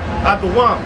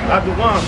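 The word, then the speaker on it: אדום: How you say it? Aduam. That's the Hebrew word. Aduam, which means red.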